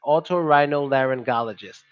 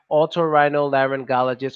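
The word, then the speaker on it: otorhinolaryngologist: should I do it I would say okay Otto Otto that's the first part Otto is good to remember because we say this a lot in other words Otto it's almost like Otto like automobile so you start with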